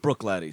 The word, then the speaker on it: Bruichladdich: the Bruichladdich bear barley that is spelled just so you know be rui CH la d di CH yeah pronounced Bruichladdich so if you're looking